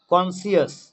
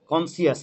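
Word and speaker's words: conscious: কনসিয়াস, কনসিয়াস, এখানে কিন্তু C silent যেহেতু এস আর সি একসাথে রয়েছে।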